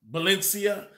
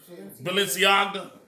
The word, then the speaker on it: Balenciaga: little teddy bears in the bondage of clothing Valencia did I say it right ballistics AGA however said Balenciaga that's the place we live the place you